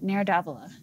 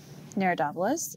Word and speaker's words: Nero d'Avola: Nero d'Avola.